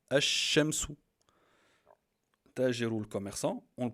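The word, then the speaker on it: الشمس: D'abord les exemples, par exemple, Al-Shams, le soleil, on prononce comme ça, Al-Shamsu.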